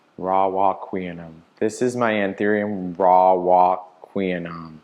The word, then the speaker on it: Warocqueanum: Q-U-E. Oh, I was completely wrong. Vulnerable share. It is pronounced Warocqueanum. Warocqueanum.